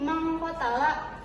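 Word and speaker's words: مَنْ قَتَلَ: Ini adalah ikfa karena nun mati bertemu dengan qof. Jadi bacanya harus didengungkan. Jadi mangkotala. Lanjut.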